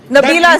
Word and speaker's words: Nabila: But having said that, we must also highlight, Kavila, you will bear me out. Nabila, sir, I think you've got my name wrong.